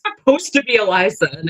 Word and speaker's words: Elysia: I just go by Eli because my name is actually pronounced Eliza because my Yeah, it's Eliza.